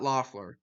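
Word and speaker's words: Loeffler: scott luff uh scott scott loffler that's how you pronounce it uh he has the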